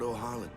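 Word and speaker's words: Ohalland: Lord Ohaland, guide our feet.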